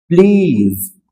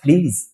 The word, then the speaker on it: please: तो आपको कहना है प्लीज। यहां ज के नीचे आपको नुक्ता रखना है और बोलना है प्लीज।